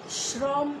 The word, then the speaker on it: শ্রম: কিন্তু এখানে আমরা বানান করছি তালব্যস্য দিয়ে, অর্থাৎ স হবে, কিন্তু উচ্চারণ কি করছি, শ্রম। শ্রম হওয়ার কথা ছিল স্বয়ের সঙ্গে র থাকলে, কিন্তু আমরা কি শ্রম উচ্চারণ করছি। সব সময় লক্ষ্য করবে যে তালব্য স্বয়ের মধ্যে যখন রফলা যুক্ত থাকে, তখন সেই তালব্য স্বটাকে স্বয়ের মতো উচ্চারণ করা যায় না, সেই স্বটাকে স উচ্চারণ করতে হয়, শ্রম।